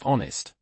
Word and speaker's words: honest: And the H in ghost or honest? Excellent examples of silent H. The pronunciation starts with the next sound.